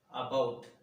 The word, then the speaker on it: about: About, about, around. It is a disyllabic word, about. Here, the first syllable is not stressed.